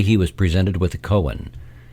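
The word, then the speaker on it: koan: called a Japanese Cohen it is spelled k-o-a-n but pronounced Cohen it is a question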